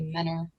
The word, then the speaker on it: Mentor: We have an area by us called, it's spelled mentor, m t o r, but we all say menor. And if you say mentor, you're weird and from out of town.